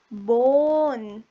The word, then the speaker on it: bone: Bone. Bone. E is silent here. Bone. O. Consonant E.